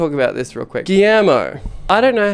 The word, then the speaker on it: Guillermo: Guillermo, I hear that word and I go, oh, that's that word. That name! I hear that name and I go, that's the one that's spelled with L's and a U and an I. Because it's spelled Guillermo.